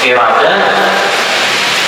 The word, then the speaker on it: iradah: Padahal bacaannya qudrah, iradah. Pakai ta apa? Ta hikam. Bacanya apa? Kudrat ya. Iradat. Taknya tauknya sama enggak? Nah, dalam ilmu tajwid ujar orang tajwid salah. Apabila tak marbutah dibaca ha.